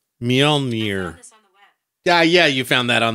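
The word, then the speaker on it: Mjölnir: How to pronounce that. Mjolnir. Mjolnir.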